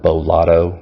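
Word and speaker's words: Beau Lotto: of them is the one i mentioned earlier bo lotto that's spelled b-e-a-u his last name is lotto l-o-t-t-o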